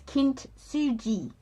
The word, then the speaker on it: kintsugi: is pretty much almost the pronunciation is is a soft G. So it's kint suji.